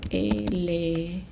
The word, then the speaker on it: éléphant: If I don't put an accent on this E, even though there are two consonants after, it's going to be pronounced E. So that's why in éléphant, we have an accent on the E in order to pronounce it A, éléphant.